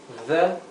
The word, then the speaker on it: the: The, con la D vibrante, the vacations made me happy.